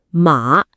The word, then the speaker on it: 马: 比如妈，一声是妈妈，马，三声是 horse。